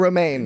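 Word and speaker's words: Romijn: Romaine. She's Rebecca Romaine now. Yes. Now, yes, that's It's been not, a long time. It's not spelled the same way as the lettuce.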